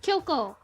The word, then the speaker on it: Kyoko: There's not a K-I there. It's just Kyoko.